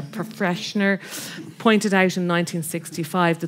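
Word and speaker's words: Pfretzschner: It's P-F-R-E-T-Z-S-C-H-N-E-R, Freshner, pointed out in 1965,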